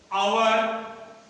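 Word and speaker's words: hour: आवर, इसका उच्चारण honourable, ये ऑनरेबल हो गया, ये आवर, और ये ऑनरेबल, ये इसका ऑनेस्ट।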